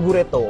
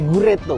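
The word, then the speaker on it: グレート: Ini Gureto, dibacanya Gureto. Dari bahasa Inggris great, hebat. Hebat, gitu. Great. Oh, great. Dibacanya okay. Gureto.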